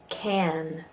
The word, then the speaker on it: can: Back can get smaller later, but right now while you're trying to get that sound, just go for it. Grass. Have. That. Can. Can. You feel that hard edge to the can.